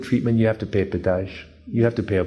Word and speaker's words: pedágio: Pedágio. Pedágio. See, if you want good treatment, you have to pay pedágio.